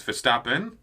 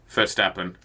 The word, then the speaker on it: Verstappen: It's Verstappen. It's like with an F, not a V. Verstappen.